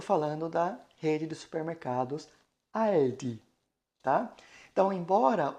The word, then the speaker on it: Aldi: Fazendo este movimento para poder pronunciar o Aldi, né? Então a gente abre a boca e, né, a ponta da língua toca nos dentes superiores e assim nós conseguimos pronunciar o L e Aldi, tá bom?